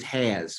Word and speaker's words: Haas: So Haas, which is probably closer to the original German Dutch pronunciation, we used Has, which was sort of a Southern corruption. But when I've been in the North, it's Haas, but Hayes doesn't quite fit.